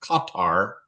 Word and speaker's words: Qatar: in the country of Qatar if you want to say it properly it's actually pronounced katar you put the emphasis on the first syllable so my job I